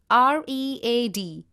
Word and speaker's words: read: In the case of read, the past form of read is read, though you will be spelling it as R-E-A-D. It has to be pronounced as read only and not read.